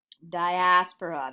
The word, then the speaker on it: diaspora: at the Jewish Diaspora that is this word diaspora that's how you say it and spell it when I went to college people were